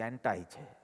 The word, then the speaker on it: anti: First of all, in America it is not pronounced 'antee', it is 'anti'.